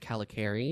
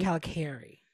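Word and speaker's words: Kalokairi: It is pronounced Calicari. Calicari.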